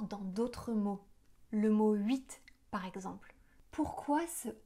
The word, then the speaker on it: huit: OK, alors les H des mots huile, huître et huit ne se prononcent pas.